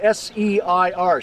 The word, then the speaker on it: Seir: In the Bible, it's spelled S-E-I-R, Seir.